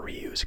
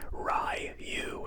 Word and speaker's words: Ryu: Ken Masters' actor Damien Chapa said the name is pronounced Ryu as opposed to Ryu. Despite issues with this, D'Souza decided to use Ryu, believing it would be easier to pronounce for Western audiences, although Jean-Claude Van Damme